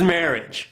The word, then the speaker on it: marriage: First, let's start with marriage. The final sound, j, j, j. Marriage, idge, idge, idge. Marriage, marriage, marriage.